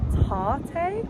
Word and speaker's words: Tarte: Went to Tarte, I believe it's pronounced latte with a T.